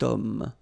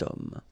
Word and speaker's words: homme: Remember, H is not pronounced, okay? So you've got the sound of O at the beginning of this word, okay? Cet homme.